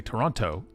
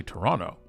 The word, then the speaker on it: Toronto: you're from toronto or not is if you pronounce the second so if you say toronto we know you're not from toronto you say toronto we good we say tdot or the six